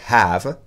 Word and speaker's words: have: Prononcez bien le H, to have.